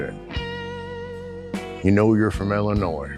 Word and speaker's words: Illinois: don't like that one we don't pronounce the S that's correct you know